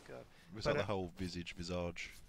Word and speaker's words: Visage: It's visage. See, I say visage. It's visage. It's a French word, isn't it? And they don't pronounce it visage. You say visage. Like, you don't say rendezvous. You say rendezvous. It's their word. We'll pronounce it the way they want us to.